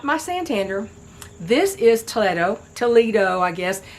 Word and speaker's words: Toledo: Toledo. I guess it's it's supposed to be a Spanish city, so it wouldn't be pronounced Toledo like Toledo in Ohio, but that's okay.